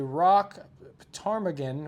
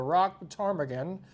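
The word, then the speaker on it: ptarmigan: Musk Oxen and The Rock Tagan which is which is a bird that's spelled with a p PT PT a r m i g- n The Rock Tagan I think it also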